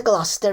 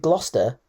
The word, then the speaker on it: Gloucester: Could it just be that Foster rhymes with Gloucester and it hides that it's about the king so you can get away with it and not be done for it?